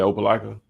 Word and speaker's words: Opelika: And you said Opelika?